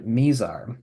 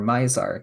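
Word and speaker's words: Mizar: and that star is named misar or misar depending on how you want to pronounce it and there's this old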